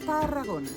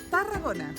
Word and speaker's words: Tarragona: How do you roll the R? You have to put your tongue, roll, Tarragona. Tarragona.